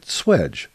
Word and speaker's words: swage: It's spelled S-W-A-G-E, but everybody pronounces it swedge.